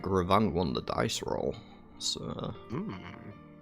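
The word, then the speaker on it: Revan: Ravan. It's not Raven, it's Ravan.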